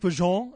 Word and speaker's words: bourguignon: Beef bourguignon?